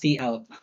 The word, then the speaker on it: cout: By the way, not co-out, that's cout.